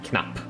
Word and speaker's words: knapp: And that is when if you pronounce a word and there's like it sounds short. So, for example, the word knapp. It's the word for button. The p part is very quick when you say it. And that way you would spell it with 2 P's.